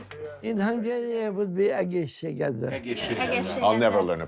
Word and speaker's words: egészségedre: In Hungarian, it would be egészségedre. I'll never learn to pronounce that. Just egészségedre. Shigedra. Yeah, egészségedre.